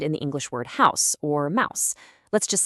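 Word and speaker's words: Haus: For tree, it's balm. There it is again. Balm. Now, the word for house. House. H O S. This one's pretty much identical to English. And for woman, it's fra. Listen to that pattern again. Auto balm. House. Fra. It's the exact same sound every single time.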